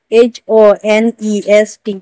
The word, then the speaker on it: honest: जैसे owner, HONOUR, owner, owner ने भी ओ से पहले एज आया है तो हम एज को उच्चारण नहीं करेंगे। ऑनेस्ट, HONEST, ऑनेस्ट।